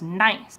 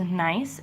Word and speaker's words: gneiss: The reason why I can tell this is gneiss is because they're very strongly defined compared to the other metamorphic rocks out there, which makes this gneiss. And by the way, gneiss is spelled G-N-E-I-S-S.